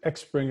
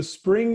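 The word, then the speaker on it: Xpring: so people mispronounce it X spring it's just spring-like like a water or like the season I get it all the time I've heard worse so spring is basically was originally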